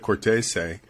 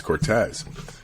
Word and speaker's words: Cortese: he was pronounced so instead of Cortese which is more the Italian's pronunciation he says Cortez which um kind of